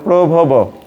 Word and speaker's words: প্রভব: তো সুভদ্রাটা ভুল হয়েছে, উচ্চারণ হবে প্রভব। প্রভব, এই যে বানাম, পয়র ফোলা ভ ব।